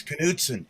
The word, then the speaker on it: Knudtson: California, they're getting it right because there's some Knudtson dairy out there, but you say the K. Yeah. Oh. Yeah, you pronounce the K. Pronounce the K. Not like knock. It's like Canuck.